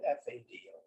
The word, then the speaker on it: Fado: Anybody have you ever heard Fado? It's spelled F-A-D-O. Looks like Fado, but it's Portuguese is pronounced Fado.